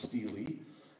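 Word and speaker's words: stele: in the ground steely i don't like that pronounce in pronunciation i want to call it a stella or a something like that but it's pronounced steely s-t-e-l-e and these steely marked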